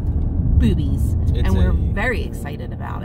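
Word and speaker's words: Bube's: gonna head over to boobies boobies boobies of course it's not spelled boobies it's spelled b-u-b-e-s yes brewery but it's pronounced boobies and we're very excited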